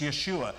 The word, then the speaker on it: Yeshua: yeah by the way his name is not Jesus it's Yeshua you've been pronouncing it wrong or oh yeah by the way this is a truth that you didn't know yet what does Jesus do with that what